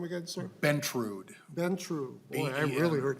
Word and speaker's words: Bentrud: Bentrud. Bentrud. Boy, I really heard that wrong. T-R-U-D. How do you spell that again?